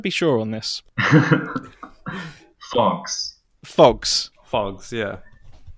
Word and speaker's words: PHOGS: in the room first question how do we pronounce it because I want to be sure on this glass phox phox yeah it's physics doors for that's how